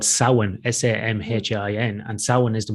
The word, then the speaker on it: Samhain: basically what halloween is uh it's what's called samhain s-a-m-h-i-n and samhain is the one to november